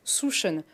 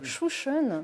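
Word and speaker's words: Sjusjøen: Souchon. Parce que ça s'écrit pas comme ça se prononce. Souchon.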